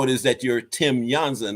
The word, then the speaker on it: Jansa: is that you're Tim yanza not Tim Jona the bio makes me look real good so I'm very happy about that now the reason I pronounce it yanza because it's actually uh Czech uh I was born